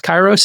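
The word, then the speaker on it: Kairos: yeah uh kyos k a i r oos chyros is how it's pronounced am I correct yep yeah so Google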